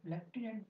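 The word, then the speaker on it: lieutenant: कितनी अजीब बात है दोस्तों, लेफ्टिनेंट में हम लोग एफ लगाते हैं बोलते समय, लेकिन स्पेलिंग में एफ कहीं नहीं होता।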